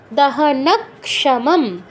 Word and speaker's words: দহনক্ষমম: কামবাণান্বিতম দেবম সংসার দহনক্ষমম, কামবাণান্বিতম দেবম সংসার দহনক্ষমম, দহনক্ষমম, দহনক্ষমম বলবেন না, দহনক্ষমম। কযুগ স, তো আগে কয় হসন্ত, পরে শয়ের পূর্ণ উচ্চারণ, তারপর দুটো ম আছে, প্রথমটা পূর্ণ উচ্চারণ, পরেরটা হচ্ছে অর্ধ উচ্চারণ।